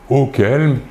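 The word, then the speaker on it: auxquels: Si le complément d'objet indirect est masculin pluriel, le pronom relatif sera également auquel ? C'est la même prononciation, mais attention, il faut ajouter un X entre le U et le Q et également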